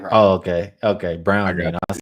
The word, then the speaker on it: Braun: He's too close to calling him Braun and that ain't right. Oh, okay. Okay. Brown. I said Brown. Like that. But he said who? I said Brown.